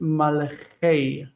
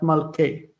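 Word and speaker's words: מלכי: So melech is malko, and the kings of the land is malchei, not malkei. Neat.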